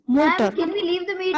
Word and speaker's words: Mutter: It's motor. MUTTER. It's motor.